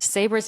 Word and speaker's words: Sabre: And so for everyone listening, Sabra's name is spelled S A B R E, but it's pronounced with an A at the end obviously with Sabra.